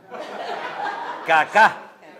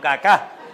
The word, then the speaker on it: Kaká: Había un jugador que se llamaba, menos mal que tenía el acento en eh al final caá. Kacá, no caca, sino cacá.